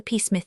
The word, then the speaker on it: Psmith: So I decided to adopt the peacemith the p I should add for your guidance is silent as in thicus psychic and tarmaggan you follow me.